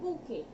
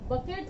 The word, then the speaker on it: bouquet: अगर आप अल्फाबेट पे ध्यान देंगे, ये बकेट हो जाएगा, बट इट्स नॉट बकेट, इट्स बुके, बुके, इट्स नॉट बुके, इट्स बुके, BOUQUET, BOUQUET।